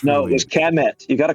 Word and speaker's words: Kemet: Probably more likely Khemet than CHA. Well, no, it's Kemet. Kemet.